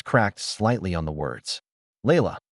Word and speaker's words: Layla: Layla. He pronounced it correctly, with the soft Arabic inflection that made her grandmother's name sound like music.